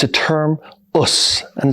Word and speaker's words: Osu: a contraction and that contraction right which is pronounced as us is a term that means I'm going to